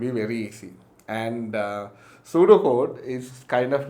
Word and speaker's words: pseudo: sorry yes yes yes p is silent you just say it as pseudo code p s e u d o but you call it